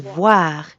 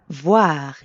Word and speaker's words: voir: And voir is easy because it rhymes with soir, like in bonsoir. Soir. Voir.